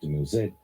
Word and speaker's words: Dumuzi: Here, Inanna is convinced to choose the shepherd, Dumuzi, sometimes pronounced Dumuzid, over the farmer.